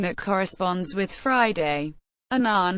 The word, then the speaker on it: Annan: that corresponds with Friday Anan has said his surname rhymes with Canon in English from 1954 to 1957